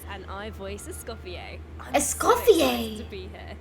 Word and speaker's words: Escoffier: I'm Escoffier! so excited to be here. That's how you I'm pronounce so iced coffee.